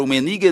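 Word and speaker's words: Rummenigge: kaisen rumenig e aí eu tentei falar pronúncia alemão que era rumenig né que eles os alemães ele dobram o r e o pessoal disse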